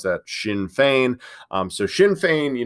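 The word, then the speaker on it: Sinn Féin: its political wing okay a a faction called shin fein so that's what you see up here at the top that's how you pronounce that shin fein um so shin fein you know was was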